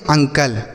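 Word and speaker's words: uncle: यू एन सी एल ई इसे हम पढ़ेंगे अंकल। क्या पढ़ेंगे? अंकल। यू अंकल नहीं अंकल।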